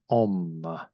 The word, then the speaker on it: Om: And this is the symbol of Hinduism, and we pronounce it as Om.